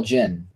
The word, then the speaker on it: djinn: The Djinn? Well, they call Jinn. The D is silent. That's what I heard.